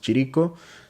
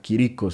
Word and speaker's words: Chirico: Él es italiano, por eso su apellido, a pesar de que leamos Chirico, se debería de pronunciar Quirico, si mal no recuerdo.